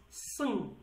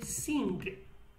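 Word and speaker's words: سنگ: Well, it's sung, but in Slemani you pronounce it as sung. Some people say sing, sing, in some dialects, not all. But if in Slemani dialect is sung, we write it as SNG, but we read it as sung.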